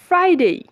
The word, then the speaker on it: Friday: আমরা যখন ফ্রাইডে বলবো তখন আমাদের ইনশিওর করতে হবে আমাদের উপরের দাঁত নিচের ঠোঁটকে স্পর্শ করছে কিনা।